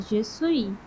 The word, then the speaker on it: je suis: Por exemplo, o S final a gente não pronuncia. Então, por isso que é je suis e não je suis. É je suis. Tu é. Entendeu? O S final não pronunciamos.